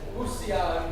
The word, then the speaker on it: Bousillage: But we lost the pronunciation over the years, and it's Bousillage.